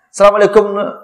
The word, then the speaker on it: Assalamualaikum: Tapi Assalamualaikum tu jangan Assalamualaikum antu yo je ndak. Assalamualaikum. Kancang bacanya Pak Ibu dak asa-asa bunyinya lah.